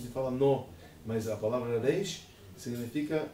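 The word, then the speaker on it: ריש: A maneira que nós pronunciamos ela é Reish, em aramaico.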